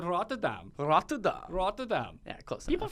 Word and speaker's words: Rotterdam: Why did we not hear that right off the top when you mispronounced Rotterdam? It is Rotterdam. What'd you say? You said it some German-eccentric way. Yeah, I said Rotterdam.